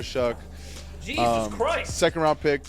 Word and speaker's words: Shough: If you don't know how to pronounce his name, just think fuck and then just add SH in front. So Tyler Shough.